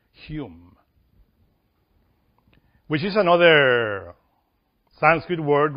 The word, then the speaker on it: Hum: But it has another word there that we always point, which is the word H-U-M, whom. We pronounce Hume, which is another Sanskrit word related with the wind, with the spirit.